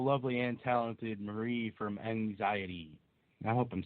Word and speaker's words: MXiety: and talented Marie from Anxiety. I hope I'm saying that right. Did I say it right? I think you got it. Anxiety. It's anxiety with an M.